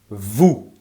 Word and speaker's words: vous: For you, plural form, it's going to be vous. Make sure you don't pronounce the S.